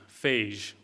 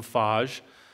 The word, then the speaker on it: phage: I want to talk about the first is phage therapy I don't know if anyone has heard about this but this is a fascinating new development if you're keeping taking notes phage is pH AG e phage which is short for bacteriophage so over close